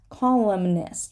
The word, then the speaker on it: columnist: column, but columnist, right? Because the N becomes part of the next syllable, and we're just going to need to say it.